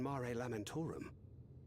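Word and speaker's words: Mare Lamentorum: It appears she's not in Mar Lamorum. That's how you pronounce it.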